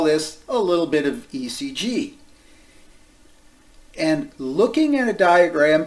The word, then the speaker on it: ECG: Oftentimes you hear people say what? EKG, using the old German spelling of cardiac. That's actually out here in the 21st century. ECG is the correct way to say it now. But you'll find people a little bit more ancient, like myself, who will still say EKG. But ECG is better.